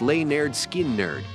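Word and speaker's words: Lynyrd Skynyrd: their debut 1973 album pronounced L nerd skin nerd it immediately connected with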